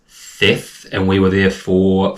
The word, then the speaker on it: Theth: So, some people pronounce it Theth, but we asked the locals, it is pronounced Theth, and we were there for 4 nights.